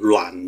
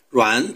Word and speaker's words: 阮: 中，并且在越南语中皆发音为暖，在吴语上海话中也近似发音为女。